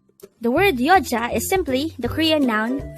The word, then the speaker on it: 여자: hango word number 125 yoa yo this is pronounced as a two syllable word the first syllable is Yo the second syllable is Ja pronounce it with me y y the word yoa is simply the Korean